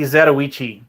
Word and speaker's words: Zatoichi: But okay, so let's go back to the Zatoichi. And Crossers Corrosive should be proud of me for pronouncing that properly.